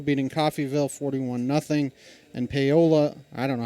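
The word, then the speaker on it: Paola: And Polola, I don't know how to pronounce that. Maybe you do. Pola.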